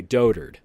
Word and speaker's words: dotard: you hear that dotard although it looks like do the words are spaced do but it's pronounced okay dotard alright this guy's a